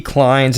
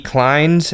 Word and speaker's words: Clynes: Kleins and Nathan S. Klein. Kleins is spelled Clynes, and then Nathan S. Klein is Kline.